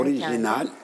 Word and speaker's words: orijinal: de değil mi Eee orijinal inisiyatif mesela oralardaki iyileri de atıyoruz atmamalıyız söylerken orijinal Evet inisiyatif o iyileri telaffuz etmek gerekiyor Mesela entel entelektüel deme